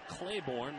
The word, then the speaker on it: Clayborn: got an email and we have been pronouncing and adding an r as almost literally pronouncing the middle name of and we got to set the record straight middle name is Clayborn like Clayborn my middle